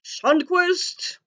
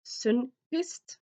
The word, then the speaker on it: Sundquist: I suppose you should say it in English, Josh Sundquist. Because I'm Norwegian, I know it's supposed to be pronounced Sundquist.